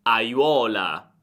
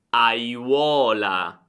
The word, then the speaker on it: aiuola: Oppure vediamo una parola con tantissime vocali in italiano: aiuola, aiuola. Cerca di pronunciare ogni vocale, è fondamentale.